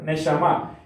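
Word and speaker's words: נשמה: Es la pronunciación correcta, neshama, que significa ¿qué cosa?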